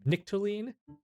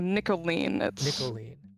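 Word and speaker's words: Nikoline: the meantime could you tell us how to spell that name nichtolene uh nicoline n-i-k-o-l-i-n-e but you can you can call me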